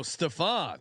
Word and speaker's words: Stefan: Oh, Stefan instead of Steven. Apologies, Stefan. Like Stefan Marbury.